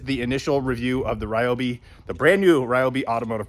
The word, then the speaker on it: Ryobi: I know some of you are going to say it's pronounced Robi. I say Ryobi.